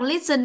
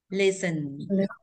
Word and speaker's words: listen: Có đọc listen không? Mình lít đâu thành lít sắc cũng không được đâu. Biết trọng dây một rồi nhưng không đọc lít ạ. À, mà hơi thả thôi. Listen, listen.